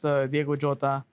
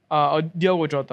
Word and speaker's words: Diogo Jota: I mean, we just got we're trying to get past Diogo Jota. Diogo Jota.